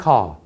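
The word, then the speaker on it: corps: marine car, 소위 말해서 해병대, 이것은 발음을 커라고 합니다. PS는 묵음이에요.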